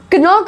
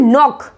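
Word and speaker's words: knock: कनॉक बोलोगे क्या, कनॉक, नो, इसका राइट प्रोनाउंसिएशन है नॉक, नॉक।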